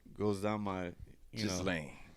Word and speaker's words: Ghislaine: Like, Well, it's Giz in the name. It's pronounced Ghislaine, but I love to